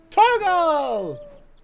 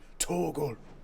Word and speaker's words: Torgal: Torgal! Oh, I'm sorry, I mean Torgal.